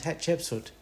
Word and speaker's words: Hatshepsut: I still say in my brain, hat, cheap, suit, and out comes Hatshepsut.